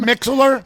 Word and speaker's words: Mixlr: Is it Mixlr? Yeah, some people pronounce it MixLR. Some people pronounce it Mixlr. So yeah. I kind of prefer LR because it tells you spells- everything.